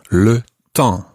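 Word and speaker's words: le temps: lesson in french the word for weather is le tang and it's one of those nasal sounds at the end and to ask what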